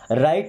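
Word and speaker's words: write: काम करो राइट इट अब देखिए यहां पे डब्ल्यू साइलेंट है कभी भी आप ध्यान दीजिएगा कि आर के पहले अगर कभी डब्ल्यू है या डब्ल्यू के बाद में आर सेम चीज है ना तो डब्लू वहां पे साइलेंट हो जाएगा साइलेंट का मतलब क्या होता है वैसे बोलते नहीं है लिखा जाता है राइट मींस लिखो इट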